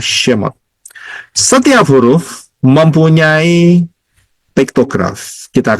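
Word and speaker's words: שמות: Pertama huruf Shin, kedua huruf Mem, ketiga huruf Waw, keempat huruf Tau, bacanya Shemot.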